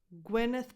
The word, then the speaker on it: Gwyneth: Gwyneth Paltrow. Gwe, that Y has a lax E sound. Gwe, not gui. Gwe, neth. So that E is just a schwa because the stress goes on gwe, gwyn, gwyneth, and then a voiceless